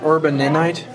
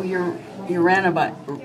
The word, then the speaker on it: uraninite: Urbaninite? Is that what, how do you pronounce it? Urbaninite? Yeah. No, uraninite. Oh. Oh, there's an R, not a B.